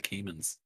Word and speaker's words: Cayman: It's spelled like gay man, but with a C instead of the G. Cayman.